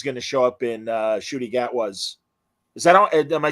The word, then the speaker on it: Ncuti Gatwa: And I did read an article saying that she's going to show up in Ncuti Gatwa's.